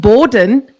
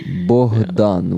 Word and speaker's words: Bogdan: But he kept saying, he's like, I'm meeting with Borden. No. I was like, no, this is how you say it. He's like, oh, thanks. Please, I didn't call him that to his face. Yeah, Bogdan, which is basically Bog